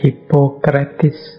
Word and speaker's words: Hippocrates: tokoh kita malam hari ini, ya tulisannya Hippocrates. Biasanya orang membacanya Hippocrates.